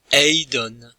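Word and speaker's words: εἶδον: Eidon. Nous avons le verbe eidon, j'ai vu, accentué sur la première syllabe, ou devrais-je dire sur l'avant-dernière.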